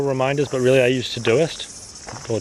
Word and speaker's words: Todoist: Apple Calendar, I do use Apple Reminders, but really I use Todoist, or Todoist, apparently that's how it's pronounced.